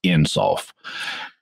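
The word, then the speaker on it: Ein Sof: understanding of god in kabbalah is einsof or sometimes pronounced insult there's a there's a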